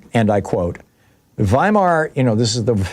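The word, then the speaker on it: Weimar: says and I quote, "Vhimar, you know, this is the the the we say wear, but in German it would be pronounced W's are pronounced like V's.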